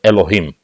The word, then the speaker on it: Elohim: But it has Cholam on the left upper corner above the Hey, so we know it's pronounced as Elohim. Right. Or Elohim in our respected way.